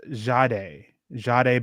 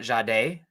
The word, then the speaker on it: Jahdae: Jahdae. Apparently, it's Jahdae Barron. Not Jahdae, not the emphasis on the second syllable. Yes, the emphasis on day.